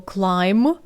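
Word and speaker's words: climb: дерево залишивши іншого позаду Зверніть увагу на дієслово клайм літера б в кінці не читається так само як і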